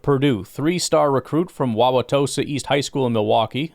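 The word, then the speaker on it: Wauwatosa: Mebo out of Purdue, three star recruit from Wawaossa East High School in Milwaukee. That's interesting. Played in four games as a freshman. It's how you know I'm in Wisconsin. I can pronounce that. Wawaossa.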